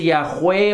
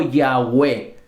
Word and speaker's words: Yahweh: no tienen vocales, y que si lo pronunciáramos en español podríamos decir que se dice Yahweh o Yahweh.